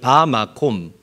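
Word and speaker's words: בַּמָּקוֹם: 곳 어느 한 장소를 뭐라고 읽고 발음하는 바 마콤이라고 읽고 발음을 합니다 한번 저를 따라해 볼까요 바마코 바마 굉장히 중요하기 때문에 여러분들이 알아두셔야 됩니다 다시 한번 저를 따라하죠 바 마콤 바마 사전적인 의미로 는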